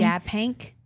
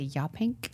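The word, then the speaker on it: Yaphank: some pumpkin pumpkin picking and Y pank and Y pink you said it correctly no notice my pronunciation I did not say ya pink yep it was hard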